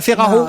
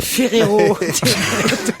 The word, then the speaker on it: Ferrero: Les chocolats Ferraro? Non, c'est Ferrero. Ferraro?